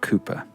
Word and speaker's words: Cowper: him is William Cooper He's Got A W in his surname but it's pronounced Cooper he was one of